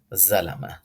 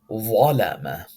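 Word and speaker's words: ظلم: is volama, volama, because this letter and dal and za, they pronounced nearly identical, but this is not zalama. This is not zalama. This is volama, volama. Zalama is incorrect. Volama is correct.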